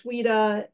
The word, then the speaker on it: CWDA: children with disabilities algorithm we abbreviated it cwda we pronounce it as Sweda it's very much like